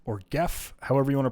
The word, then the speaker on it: GEF: I'm going to bring us towards using Jeff or Gef, however you want to pronounce it. However, they tell us, yo, it is pronounced Jeff. So pronounce it the correct way, like LaTeX or GIF.